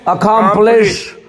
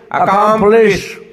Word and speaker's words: accomplish: तो इसको कैसे उच्चारण करेंगे? अकाम फ्लेश. अकाम फ्लेश.